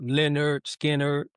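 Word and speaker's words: Lynyrd Skynyrd: Uh Lennon Skinner pronounced Leonard Skard.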